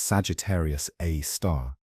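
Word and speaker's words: Sagittarius A*: Our own galaxy's central black hole, known as Sagittarius A asterisk, pronounced Sagittarius A star, contains about 4 million solar masses compressed into a region smaller than our solar system.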